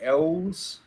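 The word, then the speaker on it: Elwes: Carrie Ells. I don't know how you Carrie pronounce it, Ellis Ellis. is correct for 2 points.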